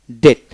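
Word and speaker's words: debt: ওয়ার্ডের মধ্যে বা শেষে বিটি পাশাপাশি থাকলে বির উচ্চারণ সাধারণত হয় না বিটি ডেট ডিটি ডেট বিউচ্ছন্ন হবে না ডেট মানে ঋণ তারপর ডি ইউটি ডাউট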